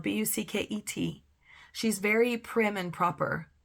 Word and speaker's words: Bucket: last name is spelled b u c ke T she's very prim and proper British and she insists that her name is pronounced bouquet but it's really bucket and all the characters